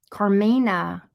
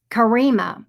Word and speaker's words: Karima: Carmina. I said it wrong. Karima. Okay, Karima.